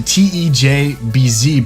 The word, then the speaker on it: TeJbZ: YouTuber named Tes and you pronounce it tejbz but he's a Swedish